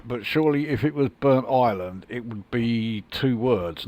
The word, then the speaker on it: Burntisland: Now maybe someone from around this area can help me out with the pronunciation of this next station here. Is it Burnt Island or is it Burntisland?